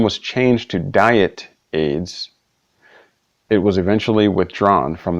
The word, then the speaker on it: Ayds: loss choose pictured above ayds pronounced AIDS was an appetite suppressant